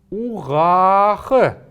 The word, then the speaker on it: угах: Угах. Угах. Вот этот звук мы должны немного протянуть, а здесь поставить неясный звук. Когда мы будем произносить это слово, то будет оно звучать как угах.